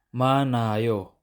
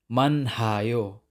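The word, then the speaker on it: 많아요: rin si consonant h Example manayo manayo hindi man hao mali yun Dapat manayo manayo dumako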